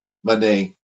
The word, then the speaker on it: Alcmene: How's that pronounced? Alcmene? Oh no, it's Alcmene.